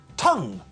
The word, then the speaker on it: tongue: English is not a phonetic language tongue is pronounced tongue not dong GU iron is pronounced iron not